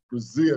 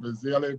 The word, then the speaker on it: Brazile: me as dr doom a lot of people have a problem pronouncing brazil they call it brazilian brazilian but dr doom has